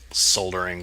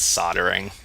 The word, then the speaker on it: soldering: I just looked up soldering versus soldering and I think in the United States it's soldering there was an optional British